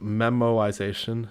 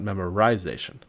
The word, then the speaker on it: memoization: It's pronounced memoization, not memorization.